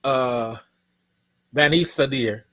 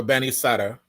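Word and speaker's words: Banisadr: This is Bani Sadir or Bani Sadr, depending on how you want to pronounce.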